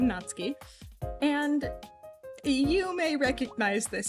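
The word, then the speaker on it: Natsuki: and that is how you say her name natski and you may recognize this out fit I'm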